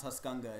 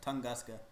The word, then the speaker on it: Tunguska: It's not It's not Tuscanga. It's Tunguska.